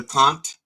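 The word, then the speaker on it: kant: Apparently, there's this controversy with this woman who sang a song called "I Deliver the Cunt," and it's pronounced "cunt," but it's K-A-N-T, which means song.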